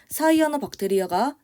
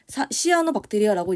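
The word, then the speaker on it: 시아노박테리아: 시아노 박테리아라고 읽기도 합니다. 그래서 사이아노 그러면 최근 표현이고요. 시아노 그러면 옛날 표현이다라고 봐 주시면 되고 우리가 통학과학 1에서 썼는데요.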